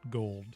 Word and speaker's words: Gould: the sports weekend robbie gould taking warm-up kicks as the packers players are introduced and running right in front of him he pronounces it gold and i pronounce it gould very stu godzilla view